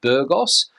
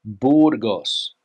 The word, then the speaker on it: Burgos: Another city in the north of Spain, the English pronunciation would be Burgos, but here in Spain, it's Burgos, Burgos, Burgos.